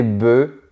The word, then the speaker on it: bœufs: Mais au pluriel, on dit des œufs, des bœufs et des os. Oui, le F et le S ont disparu de la prononciation.